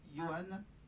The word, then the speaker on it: Johan: avec du live, évidemment, avec Johan, se prononce comme ça, Johan.